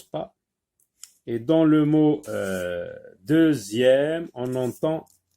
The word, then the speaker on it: deuxième: Donc deuxième, ici, la lettre X se prononce Z.